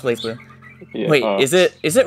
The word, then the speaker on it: BlazBlue: a very recent topic blaze blue wait no it's pronounced blazblue wait is it is